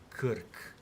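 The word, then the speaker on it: Krk: like uh there is an island in Croatia that's literally written as this and it's uh pronounced as Kirk.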